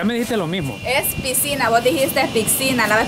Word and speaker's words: piscina: Es piscina, vos dijiste piscina. La vez pasada en ¿cómo el video es? Anterior ¿cómo nos es? Comentaron que no se dice pic, es piscina.